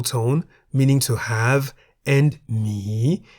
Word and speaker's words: หมี: Examples of words containing Sara-E are mi in the middle tone, meaning to have, and mi in the rising tone, meaning the animal bear.